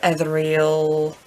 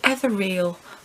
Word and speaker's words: ethereal: dark romantic, kind of ethereal. I always say ethereal. I don't know why. For years and years and years I thought they were two separate words, but I am just pronouncing that wrong.